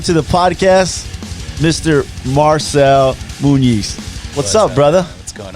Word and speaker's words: Muniz: I was worried about that, I kept saying, I'm probably going to say Munoz just out of it's more common than Muniz, right?